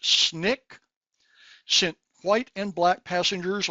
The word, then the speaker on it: SNCC: The recently formed Student Nonviolent Coordinating Committee, SNCC, pronounced SNCC, sent white and black passengers on multiple freedom rides from Washington, D.C.